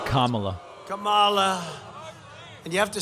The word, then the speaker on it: Kamala: the biden harris how about harris kamala it's kamala kamala and you have to say her name